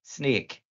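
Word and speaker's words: Snyk: it makes total sense once you hear somebody pronounce it you're like that makes a lot of sense security company sneak people are sneaky totally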